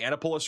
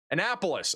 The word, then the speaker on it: Annapolis: Did I not say Annipulus right? Am I saying it wrong? How am I saying it wrong? Annapolis.